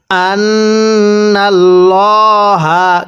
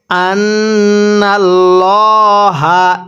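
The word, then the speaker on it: أَنَّ ٱللَّهَ: এরপরে আন্নাল্লাহা কিভাবে পড়বো? আনাল্লাহা। এটাকে আন্নাল্লাহ পড়া যাবে না।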